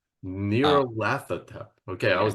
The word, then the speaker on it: Nyarlathotep: Masks of Nyarlathotep, I pronounce it Nyarlathotep. Nyarlathotep.